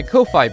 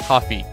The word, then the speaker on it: Ko-fi: becoming a supporter of my kofi page or i think it's pronounced coffee it's a patreon competitor